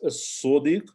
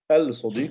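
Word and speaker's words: الصديق: So you can guess as-sadiq is not al-sadiq, it's as-sadiq.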